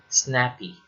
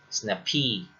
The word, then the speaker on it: snappy: For instance, snappy. It's actually pronounced as snappy, not snappy.